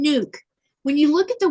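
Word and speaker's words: Nuuk: look at the word, there's two U's. It's N-U-U-K. But it's they a bunch of them will say nook or nuck. You know, they'll make that short sound. And instead of asking, they'll just mispronounce it without asking. It's nuke.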